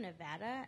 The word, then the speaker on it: Nevada: in a certain way I'm from Nevada I know it's pronounced Nevada I also speak Spanish so don't try to be Spanish when you say Nevada because that's not even how you pronounce it but it how